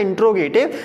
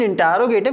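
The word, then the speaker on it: interrogative: हां हो सकता है कई बार हमारे मुंह से निकल जाता है इंट गट never read इट इंट गट इट is written इंटेरोगेटिव क्योंकि स्पेलिंग देख लीजिए आई एन टी ई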